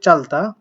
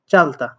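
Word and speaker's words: 짧다: উচ্চারিত হতো বাট এটা যেহেতু তার মধ্যে পড়ে না তার মানে বাম পাশেটা উচ্চারণ হবে চাল আর যেহেতু বিউপ আছে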